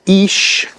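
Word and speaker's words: Ix: I have 1, and the I-axis is pronounced ish, so 1 ish, and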